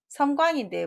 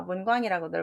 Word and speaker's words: 섬광: 답은 섬광인데 모르니까 문광이라고들 많이 하시죠. 자, 번쩍이의 섬자입니다.